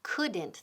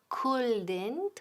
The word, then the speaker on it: couldn't: Ojo, la pronunciación couldn't. La L aquí es muda. Nunca decimos couldn't, ¿ok?